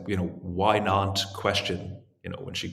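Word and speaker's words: Nantes: people that it's a city called not because everyone's like not not what not it's spelled NES kind of right spelled NES it's it I don't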